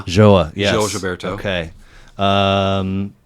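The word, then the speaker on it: João: Joa.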